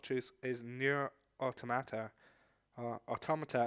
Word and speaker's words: Automata: Automata, as I would have pronounced it until the game told me otherwise, literally at the end.